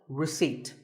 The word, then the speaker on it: receipt: don't pronounce as in word number 24 receipt the P is silent when you purchase something